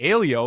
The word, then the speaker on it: Aleo: Alio, like Paleo.